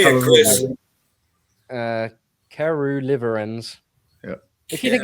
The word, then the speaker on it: caerulivirens: Uh caerulivirens.